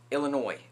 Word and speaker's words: Illinois: Illinois, please don't pronounce the S.